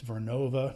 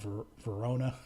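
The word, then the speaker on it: Vernova: bigger okay GE vnova which I realize I've been pronouncing wrong for months it's vnova not ver Verona gev okay this one's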